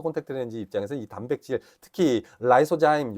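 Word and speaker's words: lysozyme: 렌지 입장에서이 단백질 특히 라이소자임 여기는 리소자임이라고 되어 있는데요 이거 사실 발음함은 라이소자임 있니다 어찌됐든이 라이소자임 단백질의 경우에는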